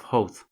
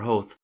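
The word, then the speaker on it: Howth: to the starting point there seems to be a considerable difference of opinion as to the correct pronunciation of ho perhaps that is because it is a Danish word hovid ahead the Danes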